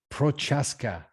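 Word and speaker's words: Procházka: me let me do it without your interruption prochaska yeah that's right perfect okay i want to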